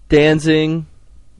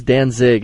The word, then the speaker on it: Danzig: Pilots uh number one danzing and no no danzing well everyone says Danzig and they say I say it wrong but I don't know there's no n at the end of but yeah but that's how